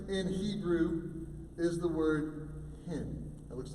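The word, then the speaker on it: חן: You know, interestingly enough, the word grace in Hebrew is the word hin. It looks like chin, but it's actually pronounced hin.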